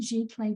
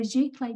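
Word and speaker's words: giclée: going to get you g clay prints so g clay print is spelt g i c l e e and that just means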